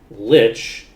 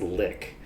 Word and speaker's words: Lich: the normal way but Lich in the original German is just pronounced lick so it actually Lich doesn't match the naming Convention as well lick does so I think that like as a thing I honestly kind of prefer lick that makes it